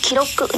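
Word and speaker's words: 記録: Đúng ạ, so desu ne, đúng rồi, từ này chúng ta sẽ đọc là kiroku nhá.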